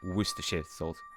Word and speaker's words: Worcestershire: into the words because if you if you read it like every letter it would be pronounced so differently just go worcestershire oh there's actually there's